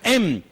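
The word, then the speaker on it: אם: palabra madre, que significa, o se escribe o se pronuncia em, porque la palabra en, de la cual viene la palabra fe, resulta que está entroncada con la maternidad.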